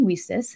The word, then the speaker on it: WiCyS: go by your acronym we sis and it's spelled w-i-c-y-s we pronounce it we sis like we sisters because that's exactly what we